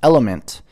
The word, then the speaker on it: LMNT: utilize on the day-to-day lmnt pronounced element is a tasty electrolyte